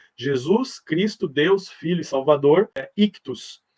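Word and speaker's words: ἰχθύς: Cristo Deus Filho Salvador ictus e essa é a pronúncia né se a palavra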